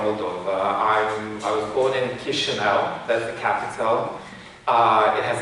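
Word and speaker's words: Chișinău: I was born in Chisinau, that's the capital. It has a difficult pronunciation. We use some diacritics. It's pronounced Chisinau.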